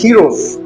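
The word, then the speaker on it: ἔρως: सो द original pronunciations of eros is heroes.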